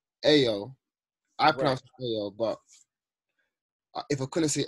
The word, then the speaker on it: Ayo: so you would say IO IO is pronounced AO I but if I couldn't